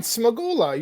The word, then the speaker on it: Smagula: Smagula.